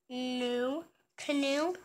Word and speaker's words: know: I do not canoe. The K is silent.